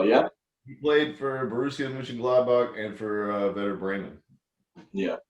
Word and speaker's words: Mönchengladbach: How do you pronounce their team's name? Mönchengladbach.